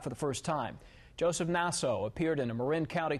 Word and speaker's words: Naso: 77-year-old Joseph Naso, he interrupted the judge on several occasions, actually, including to stress that his name is pronounced Naso.